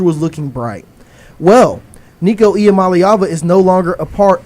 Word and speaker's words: Iamaleava: That's why I'm so good at saying Iamaleava.